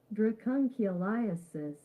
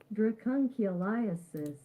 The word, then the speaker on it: Dracunculiasis: Dracunculiasis. You ready? Yeah. I'll say it again. Dracunculiasis.